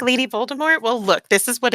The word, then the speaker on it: Voldemort: Voldemort. Yeah, it's a silent T. It's fine. Yeah, that's how it's supposed to be pronounced.